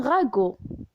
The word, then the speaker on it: ragoût: Et la lettre T est muette. On dit un ragoût.